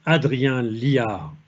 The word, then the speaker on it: Adrien Liard: Today, we have the honor of welcoming Adrien Liard. I pronounce it in a French way.